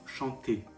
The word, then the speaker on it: chantez: que pour jeu il/elle chance nous chantons vous chantez ne prononce pas le zen vous chantez il elle